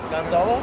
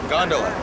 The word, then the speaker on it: gondola: just like that huh how do you say gonzalo gondola gondola got married on a gondola boat in